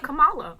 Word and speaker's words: Kamala: come on love like kamala kamala kamala harris like it's not hard to pronounce kamala's name like comma love like dude i don't